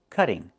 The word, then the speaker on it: cutting: We cannot pronounce the word this way. We cannot say I'm cutting the tree. It's pronounced cutting. Move the stress to the first syllable, cut. Not cutting, but cutting. And in America, we change the T to a fast D when it's between vowels, like this. Cutting, cutting.